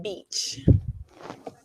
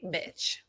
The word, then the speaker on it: beach: instead of saying beach, they say bitch.